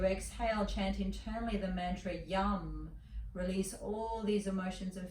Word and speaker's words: Yam: Sat, S-A-T, Yam, Y-A-M, but pronounced Yum, as in yummy.